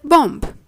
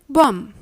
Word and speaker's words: bomb: The B is a silent letter, and as such, the three words should be pronounced as womb, tomb, and bomb.